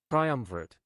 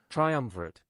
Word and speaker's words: triumvirate: Triumvirate. Triumvirate. Triumvirate. We are looking at how to pronounce this word correctly.